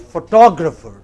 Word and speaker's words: photographer: can be photograph again in both cases you have a stress on the initial syllable but look at the next word it is photographer what is it next word but another word photographic so three different kinds of stress on basically the same related word you have photo